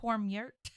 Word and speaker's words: Kormhurt: It's KORMH Yurt. YURT. Yeah. Kormhurt.